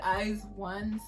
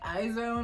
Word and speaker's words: IZ*ONE: it's okay anyways i actually don't know what eyes one stands for but i know you do pronounce it that way when i first heard